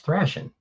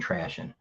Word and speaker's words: thrashing: They said I was pronouncing wrong. It's thrashing. Tr thrashing. Maybe I was signing trashing.